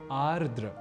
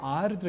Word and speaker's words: आर्द्र: अन्विति कुछ भीगा तो यहां आर्द या आद्र के क्रम में हमने देखा कि हम एक र इस अक्षर को हटा देने का काम उच्चारण और लेखन के समय कर रहे होते हैं बल्कि ऐसा करना होता नहीं है इसलिए आर्द्र यह शब्द ही सर्वथा शुद्ध शब्द है यहां एक बात यह